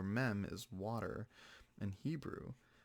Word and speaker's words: Mem: is water in Hebrew, which is pronounced meme. Mem. I'm like, I don't know. I thought it was always pronounced that way. Mime. Mime? No, it's not mime. It'd be mem.